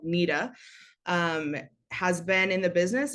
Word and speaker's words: NEDA: Unfortunately, though, the National Eating Disorder Association, people spell it NEDA, phonetically it looks like NEDA, but it's called NEDA, has been in the business of causing harm